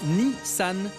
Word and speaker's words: Nissan: Au passage, les chiffres 2 et 3 se prononcent Nissan, d'où le 23, chiffre symbole d'une marque née en 1923.